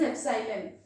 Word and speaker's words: epsilon: यही जो एप्सिलॉन होता है इसको E नहीं प्रोनाउंस करेंगे, it is एप्सिलॉन, है ना, एप्सिलॉन एप्सिलॉन एप्सिलॉन।